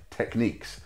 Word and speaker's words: Technics: it is official the way you're supposed to pronounce the brand name is techniques however I've been saying techniques my whole life it scans better for me